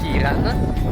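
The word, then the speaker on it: Ciarán: Charan si legge Kiran ed è proprio il nome del proprietario del mio ostello.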